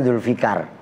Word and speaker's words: Dzulfaqar: Dzulfaqar, dibacanya Dzulfikar.